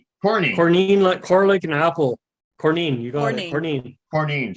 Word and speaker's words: Courneene: hold on Corine Corney Corine cor and apple cornine you got it Corine cornine cornine yeah